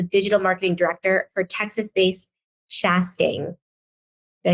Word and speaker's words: Chastang: She serves as the digital marketing director for Texas-based Chastang.